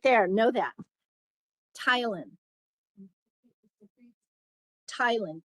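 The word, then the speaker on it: ptyalin: So we uh the salivary glands secrete saliva called tylin. So the P is silent. Yes. secret right there. Know that Tylen Tylen P T Y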